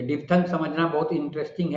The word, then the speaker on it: diphthong: डिप्थंग। डिप्थंग। इसी का American pronunciation भी सुन लीजिए।